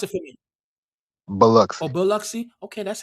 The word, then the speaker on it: Biloxi: And they made that right at the end and jumped on Route 90 and went to Bill Loxley, whatever you want to call it.